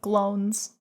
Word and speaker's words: Glones: It's like clones, but Glones.